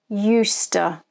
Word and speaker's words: used to: let's practice our pronunciation repeat after me used eusta i used to walk